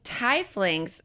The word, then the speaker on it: tiefling: For pronouncing tieflings, think teeth with a lisp.